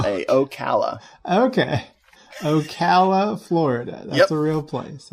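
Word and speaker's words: Ocala: an hour away from me okay oh wait spell it o c a l a oala okay Okala Florida that's the real place okay oh it's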